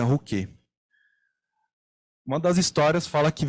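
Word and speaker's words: Ruchè: E aí tem 3 histórias, né, que explicam a origem do nome Rouquet, né, que escreve Rocher com o acento, mas eles pronunciam lá na Itália Rouquet.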